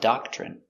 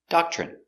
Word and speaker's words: doctrine: Their rules are a doctrine. Pronunciation doctrine. D a da c- dock chock ch. Remember when you have tr together it makes the chicken sound ch.